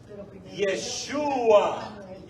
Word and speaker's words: Yeshua: Es decir, la última vocal o la última letra no se pronuncia.